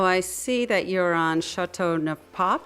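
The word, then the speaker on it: Châteauneuf-du-Pape: So I see that you're on Chateau Neuf Pape. How do you pronounce that? Chateau Neuf de Pape.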